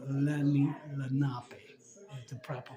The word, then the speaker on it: Lenape: Some people say it Lenape and Lenape, but it's Lenape. Is the proper pronunciation from what I was told at 2 locations already.